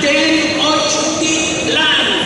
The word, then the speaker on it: Tenochtitlan: THEY HAD A CITY CALLED TENOCHTITLAN. Four syllables. Tenochtitlan.